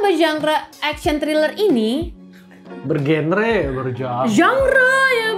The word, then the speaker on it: genre: genre ya bacanya ya.